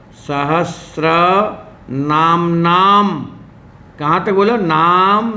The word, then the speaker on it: सहस्र: ये शब्द सहस्त्र नहीं है, सहस्र नाम का शब्द शुद्ध होता है। स में र, सहस्र।